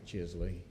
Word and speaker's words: Chisley: going to call chisley not sure i pronounce that correctly and i believe general comment has three minutes welcome madame superintendent board members you said it right chisley i've been called worse